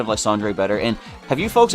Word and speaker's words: Lysandre: So, but yeah, Lysandre is Lysander.